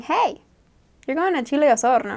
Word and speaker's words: Osorno: Osorno. I think I pronounce it like Osorno, something gringo, but it's okay because it